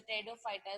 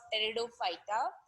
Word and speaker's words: Pteridophyta: So it is somewhat like here also in case of Pteridophyta, where P is silent everywhere, giving us so many new things in this member of the plant kingdom.